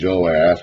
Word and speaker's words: Joash: So we call the northern king Jehoash with 3 syllables, and the southern king Joash with 2 syllables, but in the Hebrew, letters are the same.